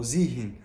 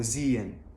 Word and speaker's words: sehen: ديت اوعى تنطق حرف الهاء اللي في النص، لا مثلا ما تقولش جيهن او زيهن او تسيهن، لا دايما حاول تختصر الكلام ده كله واعمل جيان. جيان او زيان.